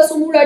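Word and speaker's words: Tsumura: ताकवा सुमुड़ा है ना, ताकवा सुमुड़ा, टी हम साइलेंट करके बोल रहे हैं।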